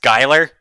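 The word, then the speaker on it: Schuyler: I think Colfax that's how you anybody that's pronounced Skylar what we were looking for was this grant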